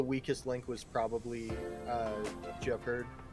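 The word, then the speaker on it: Gepard: link was probably uh Japard Japard. Yeah, Japard. That's how you say it.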